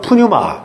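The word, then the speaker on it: πνεῦμα: 발음하기 어려운데 헬라어로는 푸뉴마 이렇게 합니다.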